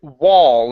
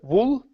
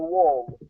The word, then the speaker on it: wall: All right, next up we have the word wall. Instead of wool, okay, this is the wall. The wall. Okay, give me an ah instead of wool. It's an ah sound. Open the mouth more.